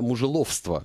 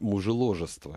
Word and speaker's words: мужеложество: А Иван Охлобыстин вот предлагает вести, вернуть уголовное наказание за Я, знаешь, я вот муже мне казалось всегда мужеловство, а оказалось правильно говорить мужеложество или мужеложество вот а который с мужем на ложе возлежит.